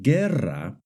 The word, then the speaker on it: guerra: For example, in the word guerra and guineo, the U is silent. But in the word vergüenza and in the word pingüino, the U is pronounced.